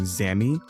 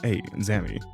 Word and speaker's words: Azami: I just put an A at the end of her name. Not how you say her name at all. So I'm going to try to go back into saying Azami, but that was on me, sorry.